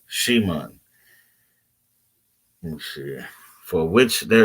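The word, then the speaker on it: שמעון: Again, there is more than meets the eye with this name between the M and the N in Simon, pronounced in the modern Hebrew more like Shimon.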